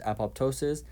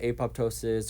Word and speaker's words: apoptosis: Now this name, most of the time I've heard it pronounced apoptosis. There have been a few times that I hear apoptosis or apoptosis or apoptosis.